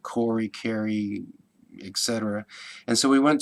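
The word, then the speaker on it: Kahre: found that name, and you can see that K-A-H-R-E is Carey, I guess it would be. He pronounced it as Corey.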